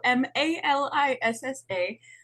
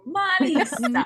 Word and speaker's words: Melissa: Online on social media at Melissa, Malissa, Malissa. Pretend you're Italian when you're saying my name, Malissa.